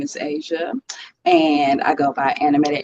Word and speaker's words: Aja: My name is Asia, and I go by Animated Asia or Animated